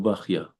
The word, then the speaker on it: Bachya: There is Machloket Ashkenazim, Sfaradim, how to say his name. Rabbeinu Bechayeh or Rabbeinu Bachya. And apparently it's Rabbeinu Bachya, the same as Ichya, it's an Arabic name.